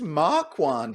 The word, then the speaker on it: Marquand: How do we pronounce it? I think it's just Marquand. That's how it's spelled, Marquand. you know.